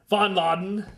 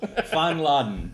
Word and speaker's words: Fanladen: We're still here at Fanladen. Is that a good pronunciation? No, that was awful. Fanladen. Yeah, it's German word that loosely translates as clubhouse, but you'll hear us refer to it lots of different ways.